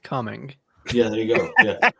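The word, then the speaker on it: Cumming: also have a city called cuming and it's pronounced cuming yeah there you go yeah well and I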